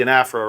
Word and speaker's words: anaphora: And two is the anaphora, right?